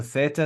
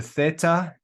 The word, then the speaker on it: theta: All right, so theta, it's pronounced like TH. Now, in the grammar lesson, if you want to be a perfect nerd about this, it's actually pronounced like TH in Thomas, okay? But nobody does that.